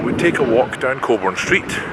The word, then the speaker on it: Cockburn: Remember, and I say this in all seriousness, it's pronounced Cockburn Street. Cockburn Street.